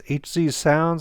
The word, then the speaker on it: HZSound: are made by eight i think it's hz sounds i think is the right way to say it they're the same